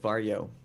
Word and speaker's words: Varjo: Is it Varjo or Varjo? Varjo. Varjo? Varjo. I think it's Varjo. I'm Well, not gonna try. when I met them at VR Days, they said Varjo. So I Varjo?